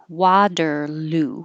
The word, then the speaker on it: Waterloo: either way and 37 waterloo waterloo so the ending is ooh waterloo and here's the link